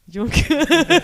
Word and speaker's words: Juncker: No, you said it wrong. Jean-Claude Juncker.